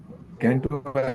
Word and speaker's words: canto: अब यहाँ पे नेक्स्ट, इसको नई नई वल्ली, इसको कैंटो सेंटो, क्या सुरेंद्र जी इसको क्या प्रोनाउंसिएशन है? CANTO? कैंटो. सेंटो। कैंटो। हाँ, ओके। कैंटो। जैसे इंडिया में कहते हैं ना, पर कैंटोनमेंट तो कैंटो.